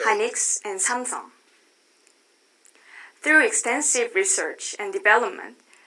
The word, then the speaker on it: Samsung: Again, American pronunciation, or I'll say English pronunciation is not Samsung, but Samsung.